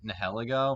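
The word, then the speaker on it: Nihilego: have drafted nahai lego how do you say that nah i call it nail ego i think a lot of people say hell ago but like yeah the word nihilism or nihilistic and ego yeah that one i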